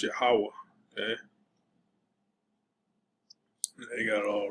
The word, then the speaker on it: Yahweh: So you see Jehovah, that's not how you pronounce it. All right. It's Yahweh.